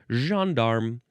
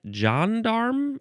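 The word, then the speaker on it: gendarme: Uh, the emphasis would be on the first syllable. Jearm. You could also say Jan. Jandarm, I guess.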